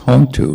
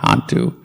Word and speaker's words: hontu: It's Hontu, not Hantu.